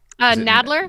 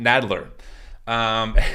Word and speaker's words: Nadler: Because I mispronounced it every time. Nadler. Nadler.